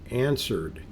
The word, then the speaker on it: answered: nice when no one answered she walked right in here's a complicated word as you're starting out answered now you can see the beginning of this word is an and this W is silent it does you don't